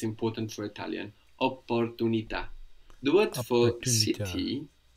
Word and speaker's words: opportunità: And I think you tried to pronounce, I think you did pronounce the double P there, no? Opportunità.